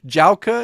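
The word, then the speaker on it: Działka: Dzialka, is that how you say it? Exactly. Yes, nailed it.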